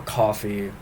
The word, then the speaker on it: Ko-fi: Um, I also I also have a Kofi that uh or coffee I guess it's technically supposed to be pronounced where you can support me directly.